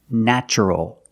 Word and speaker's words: natural: And the adjective, the description, is natural. The first syllable is pronounced with the short A, like black cat.